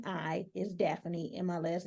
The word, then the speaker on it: Dafani: now daany spell your first name because it is spelled a little different it spelled d a f a n i is daffany and my last name is n o